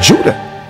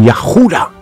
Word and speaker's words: Yahuda: So you pronounce it in English as Judah, but it's not pronounced with the vowel sound. It's pronounced with the as in Yahuda or Yeshaya, Isaiah. It's not pronounced with the W sound.